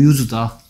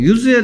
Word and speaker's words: use: 뭐 use에 대해서 잠깐 설명하면 얘를 use라고 읽어야 돼요. 왜냐하면 얘는 명사기 때문에 use라고 읽으면 동사란 말이에요. it's no use가 아니고 it's no use. 뭐 발음에 따라서 뜻이 좀 달라지는 그런 단어가 몇 가지 있는데요. 그 중에 하나가 use, use입니다. use라고 읽으면 동사고요. use라고 읽으면 명사입니다.